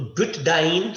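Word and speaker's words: butadiene: हाँ बेटा, कुछ अल्फाबेट्स ऐसे होते हैं जो जब साथ में आए तो वो इकट्ठे प्रोनाउंस नहीं किए जा सकते। ये इंग्लिश लैंग्वेज की प्रॉब्लम है। तो ब्यूटाडाइन कहने से हमने क्या कर दिया? हमने ब्यूटा डाइन लगा दिया, जो बोलने में आसान है।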